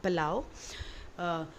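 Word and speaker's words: plough: मे be your pronunciation for प्लो is very different, but the correct is plow.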